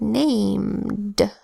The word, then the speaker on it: named: add Edie to make named did you hear the end of that the last sound and named it's just the D that says duh there's no Edie there's just so named I spelled within that